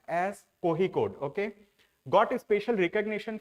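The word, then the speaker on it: Kozhikode: it is written as kicode but it is pronounced as kohi code okay got a special recognition for sustainable development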